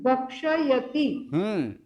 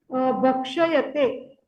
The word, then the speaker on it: भक्ष्यते: अच्छा, तेन भोजनम भक्षयते। भक्षयते नहीं, भक्ष्यते।